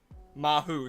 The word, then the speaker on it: Maho: We also got Maho. Maho, I remembered. M-A-H. How you say it? Mahu, sorry. Mahu, not Maho.